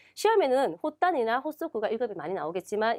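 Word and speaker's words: 発足: 예, 시험에는 호단이나 호소쿠가 1급이 많이 나오겠지만 이 세 가지가 다 뭡니까? 호수로 발음되는 단어이기 때문에 체크해 두시기 바랍니다.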